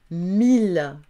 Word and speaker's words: mille: Mille, tranquille.